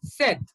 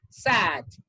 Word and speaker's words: said: No, said, said, said, like this. Let me repeat, let me help you with a technical term like this. Yes, this is how you have to pronounce.